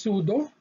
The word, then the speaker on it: pseudo: silent p then it should be pronounced as s so the example is pseudo sudo which means false presudo